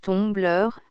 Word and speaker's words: tumbler: Le mot français vert est bien connu, mais tumbler, que l'on prononce tombleur, nous paraît être plus usité.